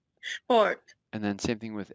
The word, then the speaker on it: Sport: SP is pronounced like it as if it were SHP. So let's read some of these. Spule. Spule. Sport. Sport.